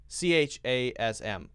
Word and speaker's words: chasm: one sound right so simply put the way this sounds is zoom zoom Z sound + mm sound and we don't say be careful not to say um because that's a common mistake CH a SM chasm